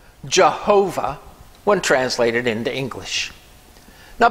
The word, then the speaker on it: Jehovah: thousands of years later jewish scholars inserted the vowels from the divine name adonai which means master or lord so they inserted that